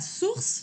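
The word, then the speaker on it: source: Por ejemplo, está la palabra suss que significa fuente. Y esa o u la estoy pronunciando como una u en español.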